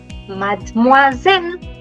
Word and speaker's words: Mademoiselle: Again, cut it into smaller syllables and then try to pronounce. So, Mad, because he is silent. Moi. Moi. And Zel. Mad. Moi. Zel. Mademoiselle.